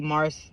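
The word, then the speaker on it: Marc'e: yeah that's why his name is uh Mar it's spelled m a r c e apostrophe e Mars Mars is the god uh the Roman God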